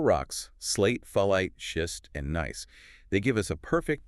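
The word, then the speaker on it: gneiss: Nice. And it's pronounced nice, which is helpful, right?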